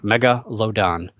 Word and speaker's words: Megalodon: movie out and it's a Megalodon which apparently nobody can pronounce it's not that hard mega load on but they had to